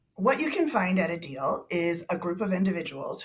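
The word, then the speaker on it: ADIL: tell us more about a deal and it's spelled a d i l just tell us more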